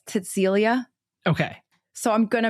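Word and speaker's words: Cäzilia: This is where Okay, so it's it's spelled C A Z I L I A, but it's like it's almost like Cecilia, but it's Cäcilia.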